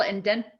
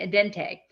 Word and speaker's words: Entente: There was an agreement, what they called the triple indent. I'm saying it wrong because it's a French word, but there was an agreement basically between Russia, France, and Germany about mutual defense. Exactly, the Entente.